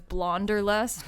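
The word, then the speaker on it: Blahnderlust: up with it but it's more so like wanderlust it spelled really weird it's spelled like blah blah blah like blah and then blah is like mixed with wanderlust so it's blonder lust so it's b-l-a-h-n-d-e-r lust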